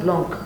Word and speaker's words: blanc: If you ask most of the people, Sauvignon Blanc, can they say it? No? Red, white. So if I... Oh wow. But it's true. It's true. It's true. That's blanc. You don't pronounce the C.